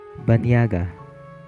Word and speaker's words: banyaga: Nya, for example, Banyaga. spelled Ny or Niy.